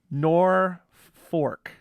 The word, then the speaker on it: Norfolk: the air right away nor fork nor fork is how we pronounce it here locally yeah yep yeah yes